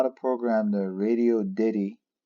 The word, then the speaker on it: Radioddity: how to program the radio Diddy as I've been told that's how you say it I've been calling a radio oddity but I guess I was wrong it's Radio Diddy GD 77 it is